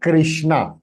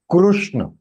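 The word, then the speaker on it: कृष्ण: So actually, it is not Krishna, it is Krushna. So Krushna is the right pronunciation, not Krishna.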